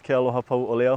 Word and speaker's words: Kealohapauʻole: My name is Kealohapauʻole. Kealohapauʻole is spelled Kealoha, P-A-U, Okina, O-L-E.